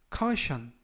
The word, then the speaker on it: caution: 커 션 카우 션 카우 션 이라고 발음 하시면 되겠구요 이때 끝부분에 있는 tion 은 한 번에 션 션 발음이 납니다 품사는 명사 뜻은 주의